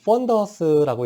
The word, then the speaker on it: fundus: FUNDUS 이거 펀더스라고 읽고요.